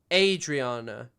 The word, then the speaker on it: Adriana: It's pronounced Adriana. Adriana. Long not short a sound.